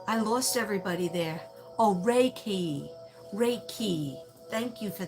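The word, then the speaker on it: Reiki: not immediate okay three syllables IM no four syllables immediate okay I lost everybody there oh Ray key Ray key thank you for that I can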